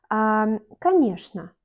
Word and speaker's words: конечно: La lettre O n'est pas accentuée, on prononce comme A, et Y est accentué, on lit Y, et ЧН, on lit comme ШН. Конечно.